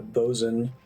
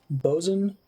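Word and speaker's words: boatswain: guard somehow maybe um a lot of water words have weird pronunciations like bozen b-o-a-t s-w-a-i-n i was like what seriously bozen yeah blackard is a good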